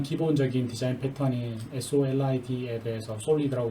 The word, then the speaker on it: SOLID: 일반적인 디자인 패턴을 알아보기 전에 클래스의 계층과 일반적인 클래스 설계에서 사용되는 일반적인 클래스 개념들을 먼저 살펴보고 가장 기본적인 디자인 패턴인 SOLID에 대해서 솔리드라고 발음하는데 대해서 살펴보도록 하겠습니다.